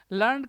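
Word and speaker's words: learned: लीफ्ड lift left left लर्नड का क्या होगा लर्निड इसको बोला जाएगा लर्निड प्रोनंसिएशन सुने लर्निड कोई दूसरा इसका प्रोनंसिएशन नहीं है जो आप बोल रहे हैं वो वाला प्रोनंसिएशन नहीं है इसका इसका प्रोनाउंसिएशन लर्निड लर्निड लीव का हो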